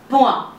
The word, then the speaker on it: point: In French, it is called as, or it sounds as point. You can see the pronunciation, le point, which means full stop of period in French.